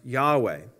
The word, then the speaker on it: Yahweh: the original hebrew god's name which is commonly pronounced yahweh the first evidence we have on the planet